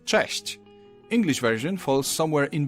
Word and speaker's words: cześć: Now Polish ch is a bit harsher than its English counterpart, but there's also a comparable softer sound, ch. You can hear both in the word cześć.